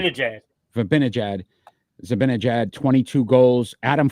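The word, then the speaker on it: Zibanejad: Van de Beanjad. I always say his name wrong. Zabinajad.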